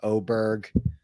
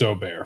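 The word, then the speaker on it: Åberg: that could be an oar thing where everybody's calling him Aber Berg and then the pendulum swings to Oar and then people start saying oberg it's it's Oar for sure yeah that's what I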